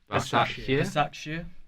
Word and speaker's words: Başakşehir: Başakşehir.